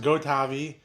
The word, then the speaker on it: gotavi: So, it's pronounced Gotavi, and I was founded by my dad and uh two other co-founders.